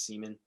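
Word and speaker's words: Semien: going to go marcus siemian did i i you got to pronounce that one slowly make sure you don't get that one right see me and marcus seaman seaman yeah so i i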